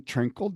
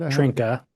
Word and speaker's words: Trinkle: Well, I think Holden Trinkle did it. Did I pronounce his name right? Trinka. Trinka.